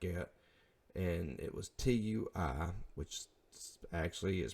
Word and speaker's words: Tui: liked advertisement stuff like it and it was t UI which actually is pronounced tui I did not know that then